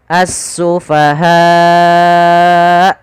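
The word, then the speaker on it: السُّفَهَاءُ: Maka kama amanas sufaha, as-sufaha, kalau 5 atau 6, as-sufaha. Baik. Nah, hamzahnya harus ditambahkan ketika untuk huruf hamzah. A-nya harus jelas karena dia sifatnya tertahan suara dan tertahan nafas.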